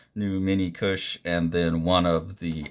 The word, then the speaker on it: KUS: Magazine number 49, and I think this is just pronounced Kush. I'm not I'm not sure what it is.